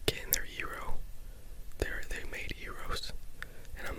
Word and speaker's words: gyro: Yi. The G is not pronounced like a G in Greek. Simply say yi and then ro. You do want to roll your R rather strongly. Gyro, gyro, gyro, gyro, gyro dish.